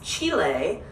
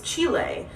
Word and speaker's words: Chile: Well, it's Chile because it's the place, Chile. But if you were to eat chili, that would be chili.